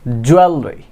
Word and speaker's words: jewelry: জুয়েলারি আমরা এটাকে বলে থাকি, বাট it will be jewelry, jewelry, jewelry.